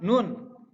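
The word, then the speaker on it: نون: Nun. Nah, untuk pelafalannya harus jelas. Nun. Lidah di bagian atas. Mau ke gigi seri.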